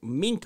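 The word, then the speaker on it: minke: that the noise was coming from the antarctic mink whales or minky whales however you want to pronounce it those wells just sound like ducks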